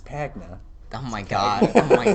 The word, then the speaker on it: Pagna: not saying it wait you said your name wrong it's pagna oh my God oh